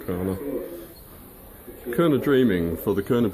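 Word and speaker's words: Kaurna: Their descendants identify themselves as Kurna or Karna. Depends on who you ask sometimes how to pronounce it. I pronounce it Kurna.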